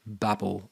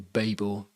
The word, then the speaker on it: Babel: going to change it to babble or Babel depending on how you want to pronounce it I call it Babble but some people call it Babel and who cares really how you pronounce it and as soon